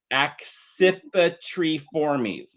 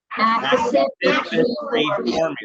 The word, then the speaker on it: Accipitriformes: The way you pronounce this one is, get ready for it, it's Accipitriformes. Accipitriformes.